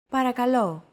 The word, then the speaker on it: Παρακαλώ: Don't forget that words get accentuated in Greek, so make sure to stress that final syllable with the accent mark. Repeat after Chrissy. Παρακαλώ.